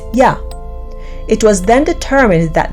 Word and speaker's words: Yah: first two letters were translated in English as YH and pronounced Yah.